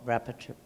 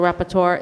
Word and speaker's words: rapporteur: role of a special rapporteur? That's what I Rapporteur? meant, yes. Rapporteur? I did say it right, rapporteur. Yeah.